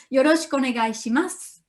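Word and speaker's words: よろしくお願いします: difficult sound in japanese so yoroshiku onegaishimasu as you can see i don't pronounce su i pronounce it as what about the writing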